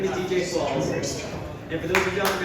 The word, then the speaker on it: Qualls: I knew you mispronounced my name, but that's okay. My name is DJ Qualls, and for those who don't know me, I am a famous homosexual.